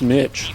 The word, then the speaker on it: niche: The traitor calling himself has It is pronounced niche. Must be neutralized. Not niche.